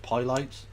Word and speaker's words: Pilates: It's pronounced Pilates.